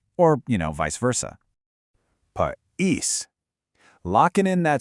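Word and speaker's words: país: But, pais, pronounced pais, means country. Notice the stress shifting to the second syllable again?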